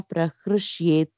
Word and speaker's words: prahrushyet: The 20th one na prahrushyet priyam right that is correct pronunciation right na prahrushyet priyam prahrush yeah prahrush correct that's correct okay thank you ma nap